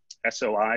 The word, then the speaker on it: SOI: that are in the um soi or soy area as we pronounce it uh and then save